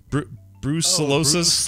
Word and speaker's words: brucellosis: Brucellosis? Brucellosis.